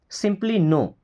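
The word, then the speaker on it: know: नो का मतलब जानना, पता होना, बट इस नो में के और डब्ल्यू साइलेंट होता है, इसको कनो नहीं पढ़ते हैं। कनो नहीं पढ़ते हैं, क्या पढ़ते हैं? नो, सिंपली नो।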